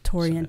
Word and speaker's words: Torien: Most videos that I've seen him say his name was Torien. Torien.